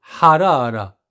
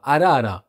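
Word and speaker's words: حرارة: la température en libanais ça se dit harara ha. Et si je ne le prononce pas, ça va donner un truc bizarre. Ça va donner harara arara qui marche pas.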